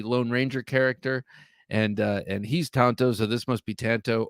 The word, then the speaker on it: tanto: Correct Japanese pronunciation is Tanto.